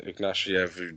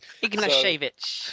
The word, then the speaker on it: Ignashevich: Obviously, their centre-back pairing of Berezutski and Ignatiev, who both play for... I'll probably pronounce it. So, yes, you could tell already. Ignashevich.